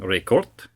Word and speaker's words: Ricard: No, not like Rickard's Red, not like Rickard's Pale Ale. Just forget about the beer for a second, will you? It's actually a French European background name from Ricord, and it is spelled Ricard.